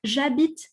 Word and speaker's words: j'habite: Okay, the H is silent, as you may or may not know in French.